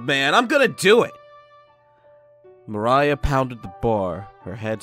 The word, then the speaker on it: Mariya: Translate it to Japanese, because it's, of course, supposed to be good old Japan. So let's see. How do they pronounce it? Maria. Yeah, it is Maria. Anyways.